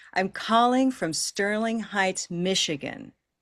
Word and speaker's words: Michigan: So instead of Michigan, it's Michigan.